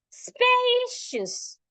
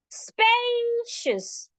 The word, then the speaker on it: spacious: Spacious. Spacious. We're saying the space louder, longer, and clearer.